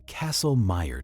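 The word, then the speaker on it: Kastle-Meyer: A classic example is the castle meer test pronounced like castle and meer like myer.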